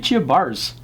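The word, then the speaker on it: Baars: first name last name bars b a a RS my Dutch friends tell me it's pronounced bars more or less and she is a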